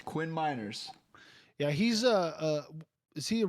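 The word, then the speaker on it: Meinerz: How do you pronounce his last name? Miners. Quinn Miners.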